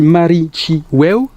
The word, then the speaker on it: Marichiweu: a déjà 2-3 ans, qui se prononce et qui se dit Marichiweu, qui est du Mapuche, qui est en dialecte mapudungun, qui est le cri des guerriers Mapuche, qui veut dire 10 fois nous vaincrons.